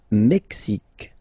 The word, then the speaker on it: Mexique: Le Mexique, le Mexique. Mexique. It's really the X. Huh? Le Mexique. And then remember this Q-U-E, it's only K. Mexique.